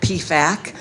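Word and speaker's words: PFAC: and family advisory councils we pronounce that P FAC a lot of hospitals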